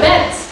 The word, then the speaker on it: Benz: Yeah, his name was Benz, as in rhymes with Mike Pence.